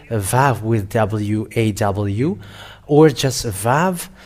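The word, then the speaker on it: ו: And it's an Hebrew alphabet in 100 Aramean in minus 1500, and it is Vav, how they read it, not W or Wa or Wu, because some people say the Wu, and that where the Yahoo comes from.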